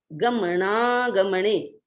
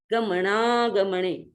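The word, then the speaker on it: गमणागमणे: अपन तो ना का जो उच्चारण है बीच में, उस ना के उच्चारण को हम ग के साथ इधर जोड़ देंगे, गमना गमणे, गमना गमणे, तो शुद्ध उच्चारण हो जाता है, गमना गमणे।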